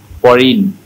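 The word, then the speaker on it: foreign: মতো যদি হয়ে যায়, শব্দের শেষে যদি আই জি এন থাকে তাহলে জিটা সবসময় সাইলেন্ট হয়ে যায়। কেউ একজন এই শব্দগুলো পড়ে শোনান তো আমাকে ভাইয়া। Sign, brain, ফরিন, ডিজাইন, রিজাইন।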